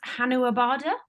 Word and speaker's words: Hanuabada: reading that Hollanderuga is from, is it pronounced Hanuabada? Is that how I pronounce it? Hanuabada, yes, yeah.